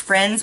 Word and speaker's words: Frends: start with friends Beauty which I think it's still pronounced friends but I'm not sure I almost showed you